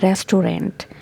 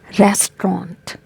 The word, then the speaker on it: restaurant: very common mispronounced word most of the people pronounce it like restaurant restaurant but the correct pronunciation of this word is restaurant okay for example let's go to a restaurant